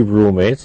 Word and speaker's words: roommates: ER, 3 roommates, linked, but roommates. We don't pronounce 2 M's, only 1 M, huh? Roommates. It sounds like roommates, huh? But really it represents room and mates.